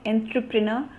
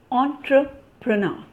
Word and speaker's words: entrepreneur: And this is not entrepreneur, it is entrepreneur, entrepreneur.